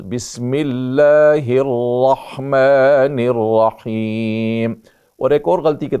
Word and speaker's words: الرحمن الرحیم: اللہ الرحمن رحمن الرحیم۔ بہت سے موقعوں پہ سننے میں ہوتا ہے بسم اللہ الرحمن الرحیم، رحمان الرحیم نہیں ہے، رحمان الرحیم،